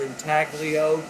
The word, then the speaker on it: intaglio: often pronounced in talio it's an italian word and the g remain silent i like to use the word entaglio to our associates in this country that way they know there's a g in the word intaglio is world-renowned in